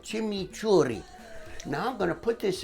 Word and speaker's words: chimichurri: do here is imitate an Argentine chimichurri sauce you have to say it like that chimichurri now I'm gonna put